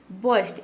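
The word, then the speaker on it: burst: बस्ट, इसको हम पढ़ेंगे बस्ट, इसमें जो आर लेटर है ये साइलेंट है, ठीक है। इसको हमें प्रोनाउंस करना है बस्ट, ठीक है।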